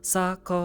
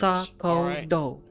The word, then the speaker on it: Sakoto: Is I always pronounce Oh my T, god. not D. My name Listen, is Sakoto. that's only the damn not northerners, Sakoto.